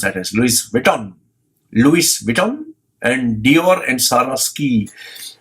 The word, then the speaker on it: Louis Vuitton: Louis written Louie Vito Louis Vuitton ice to pronounce at as Luis Vuitton Louis Vuitton and Dior and Salah ski all of them